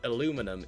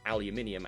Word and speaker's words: aluminium: is spelled aluminum but in Britain it is pronounced aluminium and it is spelled aluminium then again they even